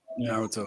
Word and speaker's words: Naruto: Is that how you pronounce it? Naruto? Naruto.